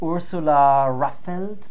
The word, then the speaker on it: Ursula Raffelt: I'm here today with Ursula Raffelt.